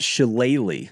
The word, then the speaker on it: Shillelagh: of all but more importantly the jeweled it's pronounced sheleighly the jewelry is the trophy awarded to the